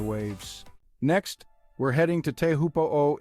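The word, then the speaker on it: Teahupoʻo: next we're heading to teahupoo in Tahiti pronounced Choo by those in the know this spot is famous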